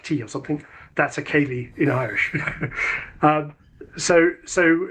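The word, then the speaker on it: céilidh: Irish or Scottish dances that's pronounced the same way but written c e i l i dh kay that means to visit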